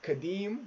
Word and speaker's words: Kadeem: Somebody commented, Kadeem, which is my name, Kadeem, rhymes with dream, and then told me to keep chasing it.